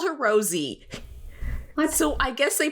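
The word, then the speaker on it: Rosé: Right, but like, if not to be nitpicky, but that accent above the E it would be pronounced Rose in French.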